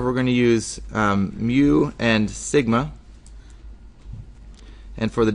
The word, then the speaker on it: mu: pronounced well you can see it there it's pronounced mu that's that's what we're going to use for